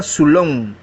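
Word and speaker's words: ξύλον: Es la G3586, se pronuncia sulón y significa madera, vara, garrote o árbol.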